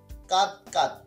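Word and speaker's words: কাঁদো কাঁদো: তো এখন আমরা দেখতে পাচ্ছি কাদ কাদ বা কাদ কাদ, কাদ না, মানে উচ্চারণটা কি হবে, কাদো কাদো, দ্বিরুক্তি।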